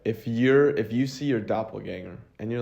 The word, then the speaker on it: doppelganger: doppelganger and you're like, is it ganger or doppelganger? What is it? Yeah, you said it right. It's doppelganger? Yeah. I feel like I'm saying it wrong. No, I think it's right.